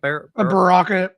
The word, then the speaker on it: Baraka: How do you pronounce him? Baraka.